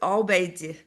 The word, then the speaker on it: Obeidi: Like this is Obeidi, but we pronounce it in Arabic Obeidi.